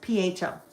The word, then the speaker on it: pho: It's f even though it's pronounced pho.